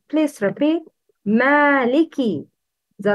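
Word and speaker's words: مالكِ: Kaf should be pronounced with kisra. It's Maliki. Please repeat. Maliki.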